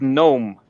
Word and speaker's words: gnome: Like the word gnome. The G in there is not pronounced at all.